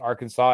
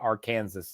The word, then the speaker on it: Arkansas: code that is strictly enforced that Arkansas is pronounced Arkansas and not Arkansas so there you go I think that's just